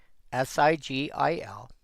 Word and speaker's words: sigil: If you do not actually know how to pronounce this word, si g i l. Well, it could be sigil or it could be sigle.